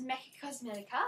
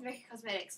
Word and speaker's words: Mecca Cosmetica: I think that's how you say it, because it's got an A on the end, not a S. So I don't think it's Mecca Cosmetics, but I call it that.